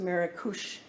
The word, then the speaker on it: Marrakech: new city of maracush we know it as marrakech it's pronounced marikosh in morocco so in andalusia we